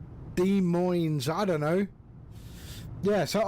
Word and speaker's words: Des Moines: I mean, um, um, I think he's I think the S is silent. Oh, right. De Moines.